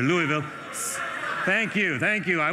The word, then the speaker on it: Louisville: The population of Louisville, Kentucky, did I say it right? Louisville is what I was calling it before I got here. Louisville.